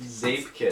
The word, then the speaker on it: Zeepkist: What is Zeepkist? It's pronounced Zeepkist? Zeepkist.